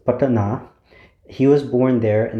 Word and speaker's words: Patna: Guru Gobind Singh, he was born in the city of Patna, and see, I already mispronounced that. It's Patna.